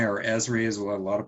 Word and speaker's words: Esri: question okay so then we have um arcmap esri or esri as well a lot of people pronounce that environmental systems research institute these guys